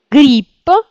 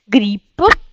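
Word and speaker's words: гриб: lop ou par exemple si a le voy c'est pluriel dou donc ça devient bou grip champignon grip grp Bien sûr, on prononce beaucoup plus vite, hein.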